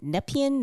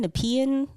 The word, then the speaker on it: Nepean: of ottawa yeah i don't know how to pronounce it nepean nepean yeah it's spelt n-e-p-e-a-n but it's a small